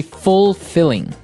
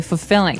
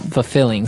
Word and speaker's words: fulfilling: You don't say fulfilling. No, you say fulfilling. Fulfilling. So the L there is kind of silent.